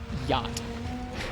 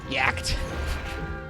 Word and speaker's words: yacht: supposed to figure out how to pronounce the word yacht looking at the word yakt why is tiger